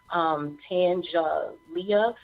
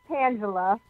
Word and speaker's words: Tangela: So, again, we are going to bring to the show now Tangelia. I hope I'm pronouncing your name right, Terrell. Are you on the line? Hi, yes, it's Tangela.